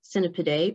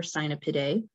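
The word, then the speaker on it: Cynipidae: these wasps belong to is called cinnipide or sinopide and people usually just call them cinnipids or cyanopits depending on your pronunciation uh there's 41 genera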